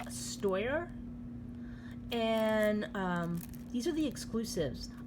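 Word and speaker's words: Steuer: Okay, so the next reed that I'm going to show you guys is I believe it's pronounced Stoyar, and these are the exclusives.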